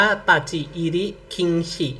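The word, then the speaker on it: 立入禁止: มี เป็น ตัว คันจิเนาะ อ่าน ว่า ตะจิ อิริ คิงฉิ นะ ทุก คน ขึ้น ชื่อ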